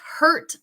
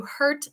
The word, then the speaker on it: hurt: So, heart es diferente que hurt. Mire cómo está la boca. Heart es como más largo, or hurt es como más cerrado.